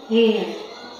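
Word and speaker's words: heir: Tama ba ako ng pronunciation? H E R. You are an air.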